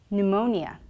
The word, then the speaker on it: pneumonia: a word before the letter end for example pneumonia other examples of our post pact apart appeal